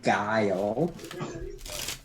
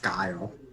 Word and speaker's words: Gayle: So I think I will be playing Aiden Guile, which happens to be the name of my Firefly character. You said Aiden? Yes, Okay. Aden. And then the last name is spelled Gayle, but it's pronounced Guile.